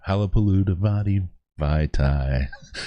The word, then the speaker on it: Halapoulivaati Vaitai: I go syllable by syllable with Halapoulivaati with Big V.